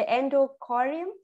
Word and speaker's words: endocardium: So you see the endocardium here. They said they have en, and then you have to pronounce it. You have to say it n, and then do, you say it do, right?